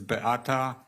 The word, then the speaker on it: Beata: Polish pronunciation is Beata.